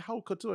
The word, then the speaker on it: haute couture: and I was like, "It's not haute. It's haute. It's HOUTE and OTOU haute. Haute couture. Yeah, haute couture. So pronunciation. That's something that I listen to people, and I'm like, it's boy, y'all can take some words up. It's haute couture.